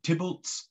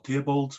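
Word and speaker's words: Theobalds: He frequently went on progress through Tybalt's or Theobald's, whichever way you like to pronounce it, Royston, his hunting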